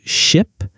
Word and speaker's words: ship: between similar sounds, like ship and sheep. Oh, that's a great example. Ship has a short I sound like I. Sheep has a long E sound.